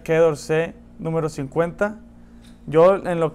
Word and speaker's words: Quai d'Orsay: Aquí tengo un Quai d'Orsay, o como se debe pronunciar, Quai d'Orsay número 50.